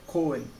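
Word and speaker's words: 公園: Por exemplo aqui, ó, Koen, Koen, entendeu? É o U aqui também, mas é Koen.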